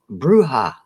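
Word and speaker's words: bruja: Bruha. Bruha. Bruha. Is that how we get bruhaha? Bruha. Bruhaha. Bruha. Thank you. J pronounced like an H.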